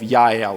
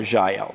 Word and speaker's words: Jael: you pronounce her name there's no js in hebrew they're all wise so i'm just going to say yael but you say jail doesn't matter say whatever you want but anyways hebrew